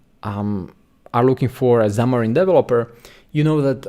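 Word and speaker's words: Xamarin: So when you for example um are looking for a Zamarine developer, you know that Zamarine is used for mobile app development.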